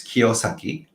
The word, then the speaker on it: Kiyosaki: Yeah, it's in Japanese it's Kiyosaki. Kyosaki means uh pure or clean uh ribba. Um but uh so um Mr. Kiyosaki's book really open up to um uh another world too.